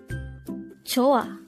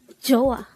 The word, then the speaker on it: 좋아: Joh-A. Joh-A. This is pronounced as a two-syllable word. The first syllable is jo, the second syllable is a. Pronounce it with me. Joh-A. Joh-A.